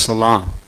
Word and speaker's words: Salem: he was the king of Salem. And if you look that word up in Hebrew, it means peace. That's what the word Salem means. It's actually pronounced Salam.